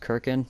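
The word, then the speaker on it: Cirkin: i think it's pronounced serkin i've also heard it pronounced kirkin but that sounds weird so i think it's circan um you know just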